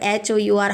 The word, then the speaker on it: hour: हावर इसको हम लोग नहीं पढ़ रहे हैं, हम लोग हावर HOUR हावर नहीं पढ़ते इसको R. So this is giving a sound of vowel. That's why we are using an R. Okay, H is silent here.